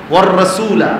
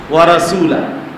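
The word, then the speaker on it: وَالرَّسُولَ: শব্দটা হইল ওয়ার রাসূলা, আপনি বাচ্চাটা বললো ওয়া রাসূলা, হয়তো এইটাই আবার মুখস্থ করতে করতে এটা মুখস্থ হয়ে গেছে না, এই জন্য নাজেরা আগে ঠিক করে।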